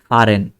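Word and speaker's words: fahren: তো ফা, এই যে এইচটা ফা, এইচ উচ্চারণ হয় নাই, ফারেন, ফা, তারপরে রেন, তারপরে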